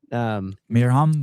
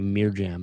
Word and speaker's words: Mirjam: Mirham Von Rohr. Mirham. Yeah, I was gonna say Mirjam, and I was like, I know that's not right.